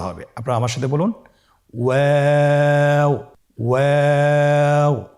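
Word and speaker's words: واو: আজকের পর্বের পরবর্তী হরফটি হলো ওয়াও। আমরা স্ক্রিনে দেখতে পাচ্ছি ওয়াও হরফটি উচ্চারণের ক্ষেত্রে বারিক হবে এবং 3 আলিফ টেনে পড়তে হবে। আপনারা আমার সাথে বলুন ওয়াও ওয়াও।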